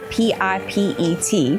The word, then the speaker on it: Pipet: This is Mount Pipet, P-I-P-E-T, but pronounced Pipet.